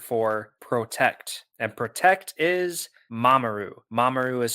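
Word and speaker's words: mamoru: the Japanese word for protect and protect is mamaru mamaru is spelled m a m o are you and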